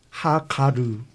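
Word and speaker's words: הגר: 하가르 이제 원래 발음 그렇거든요.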